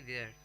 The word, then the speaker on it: vier: VIER spelling है उसकी, और उसको बोलेंगे देयर।